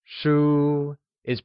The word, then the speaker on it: shū: That is a book will translate to Nàshìběnshū where bokk becomes Shū Shūis pronounced with a high level tone , o once again the whole sentence becomes Nàshìběnshū Excellent!